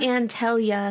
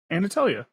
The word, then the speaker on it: Anatalia: It's not Antalia. Galatia. It's Anatalia. Right? Anatalia. You're leaving out the Anna.